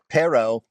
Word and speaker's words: perro: next up um here's a real quick one perro and perro pero nice rolling of your RS okay so one of them perro very common to use the word perro because